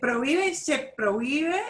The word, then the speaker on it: prohíbe: Se prohíbe, and remember we won't pronounce the H, it's written, Se but we don't say.